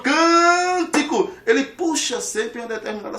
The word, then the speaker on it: cântico: Cântico. Onde é que está a sílaba forte? Está nessa primeira sílaba aqui, ó. Você diz cântico.